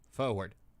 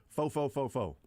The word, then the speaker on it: forward: and see how you would spell the word forward. FOHWERD. There you go. Got it Forward. in one. Forward. Fo. Never knew that. Now, I will make a point to always pronounce the R.